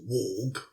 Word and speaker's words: warg: In Norse mythology, a warg, V-A-R-G-R, frequently anglicised to be pronounced warg, W-A-R-G, is any wolf that chases the sun and the moon.